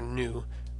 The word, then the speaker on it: nu: that V sound so we should always remember to pronounce our new as an N an example of a